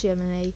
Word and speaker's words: Gemini: Yes, the spacecraft is pronounced Germany. Star sign of Gemini.